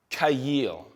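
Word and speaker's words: חַיִל: And it's pronounced kayil.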